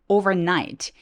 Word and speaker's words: overnight: However 아니고 however 강세 노란색 overnight. 이렇게 두 번 강세가 있을 때도 있습니다.